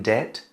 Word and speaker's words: debt: Next one is very similar, in debt. In debt, D-E-B-T, but the B is silent.